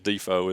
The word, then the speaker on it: DeFoe: but yeah it's actually the correct way is defo is to pronounce it and it might have been out